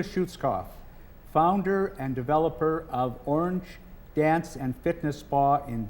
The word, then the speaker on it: Oranj: Well, first people always say orange which makes us sound so much fancier. Um but it's orange.